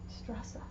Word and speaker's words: Straße: replacement for what we in English know as the double S, as in less. Let's pretend that less is a German word. It would be spelled less. Like that. And there are German words you will see often with Eszetts. Heiß. Heiß, which means hot. Straße. Straße, which means street.